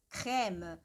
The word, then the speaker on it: crème: Crème que tem aqui um acento grave, então é importante, né? Crème. No caso dessa palavra, justamente porque tem um acento, então imagina as ondas sonoras, né? Crème. Sobe e desce.